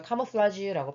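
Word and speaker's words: camouflage: 것처럼 cfed 어 카라라 단어가 프랑스 인데요 그래서 발음도 신기하죠이 단어는 위장을 하다 변장하다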